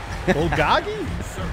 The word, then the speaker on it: bulgogi: will be ul write it down doggy bowl bulgogi b-u-l-g literally fire meat fire meat that's what it says i like meat and i love fire i love bulgogi if i would have said i like meat